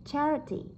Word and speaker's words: charity: Vậy đuôi et thì cũng đứng trước nó, vậy các bạn sẽ đánh trọng âm vào từ char.